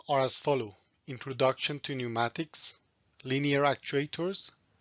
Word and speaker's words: pneumatic: might pronounce it differently in some languages they pronounce p at the beginning but in british and american pronunciation that p is silent five basic components of